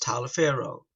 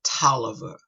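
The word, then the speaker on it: Taliaferro: called today is georgia and this is correct tyler farrow but we pronounce it toliver t-a-l-i-a-f-e-r-r-o we pronounce toler so remember that so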